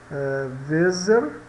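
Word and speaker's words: Weser: o v é pronunciado o w v é pronunciado como V vezer vezer que é o nome do rio alemão Tá então dbl não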